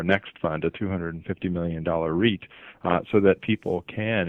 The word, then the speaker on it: REIT: investment trust or Reit which you pronounced is a Reit uh that's how it's pronounced why did you structure